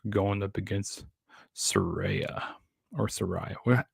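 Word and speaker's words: Saraya: up against Soraya or Sariah Soraya that's how you say her name or page so you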